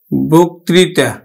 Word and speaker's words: বক্তৃতা: তাহলে আমরা উচ্চারণ করব কিন্তু বয় ওকার ক, বক ত্রি তা, বক্তৃতা, আমরা উচ্চারণ করব বক্তৃতা।